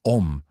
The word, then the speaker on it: Om: Las tres letras A, U, M, pronunciadas en combinación como Om, pueden bien ser el símbolo generalizado de todos los sonidos posibles.